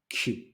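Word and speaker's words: queue: standing in a q just the same as a pronunciation of its first letter A Q so these people are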